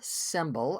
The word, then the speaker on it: Sembl: about it today yeah let's spell that s m b l symbol as in a symble Y which is exactly what